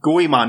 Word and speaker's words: Goemon: I would have to hear it to even be able to pronounce it again right. Yeah. Goemon? Goemon, that was it.